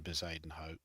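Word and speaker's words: Bezuidenhout: There's also a golfer called Christian Baden Hope. So that's how you pronounce his surname.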